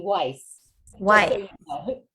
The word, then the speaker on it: Weiss: But my last name, I pronounce it here in New Jersey, Weiss, just so Why?